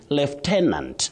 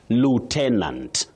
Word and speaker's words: lieutenant: Now for this word you can say left tenant. M left tenant that is in British English left tenant. But in American English we have lu lieutenant.